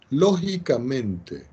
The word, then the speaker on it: lógicamente: Entonces, dos proposiciones se dicen lógicamente, acento en la O, equivalentes si al conectarlas